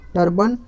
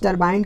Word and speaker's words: टरबाइन: Option number क्या हो जाएगा, बी, टर्बन control. Sorry friends, गलत उच्चारण हो गया, टरबाइन कंट्रोल, ठीक है, टरबाइन कंट्रोल।